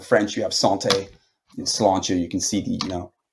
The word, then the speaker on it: sláinte: Sláinte, yeah. Just Salancha. Okay. Sláinte basically means health. It's derivative well, not a derivative, but Irish is a Germanic language. So, in French, you have santé. In Sláinte, you can see Right.